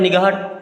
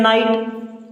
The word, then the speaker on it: night: अब NIGHT, GH यहाँ पे साइलेंट होगा। एक बच्चे को मैंने बोला NIGHT लिख करके, बोला पढ़ो क्या लिखा है, तो बोलता है निगाहट। पूरी क्लास हंसने लगी, क्योंकि ये तो लिखा है नाइट, ये क्या लिखा है?